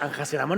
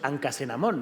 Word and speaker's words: Anjasenamón: Claro, porque su esposa, Anjasenamón, no decimos Ancasenamón, ¿no? La solemos pronunciar como Anjasenamón, ¿no?